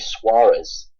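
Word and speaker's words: Soares: Someone else, AJ Soers, I was aware of. I've heard of him. I've noticed he's generally the other starting centre back for you. Yes, he pronounced it's actually AJ Suarez.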